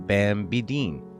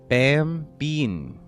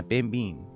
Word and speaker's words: Bambeen: As the adventure opens, there is a festival in the town celebrating Bambideen. Bambideen? No. Bambeen. Yeah, Bambeen. I knew that. I said it right the first time.